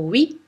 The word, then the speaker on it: oui: hier est normalement hier pareil pour le mot oui très lentement ou oui oui oui ou pour le mot